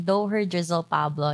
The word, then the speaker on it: Doher Drizzle Pablo: how do you pronounce your name yes you pronounce it correctly doher drizzle pablo yes perfect well it's good to have you